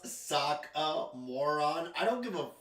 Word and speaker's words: Sokka: It's pronounced Sokka, moron.